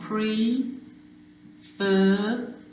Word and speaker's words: prefer: hear the stress there prefer you can hear the stress if you can hear the stress at the end yes you do double the consonant so you've got pre fur there's your stressed syllable so i double the